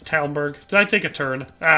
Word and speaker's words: Talmberg: It's Talmberg.